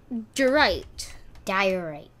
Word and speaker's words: diorite: Diorite. Do you want me to check, Ben? No, we're good. That's someone else's video. Alright, so this... So, we found out that it is pronounced diorite.